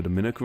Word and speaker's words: Dominica: With Dominicans from the Dominican Republic, the me syllable is stressed, while Dominicans from Dominica, the ni syllable is stressed, Dominica and Dominica respectively.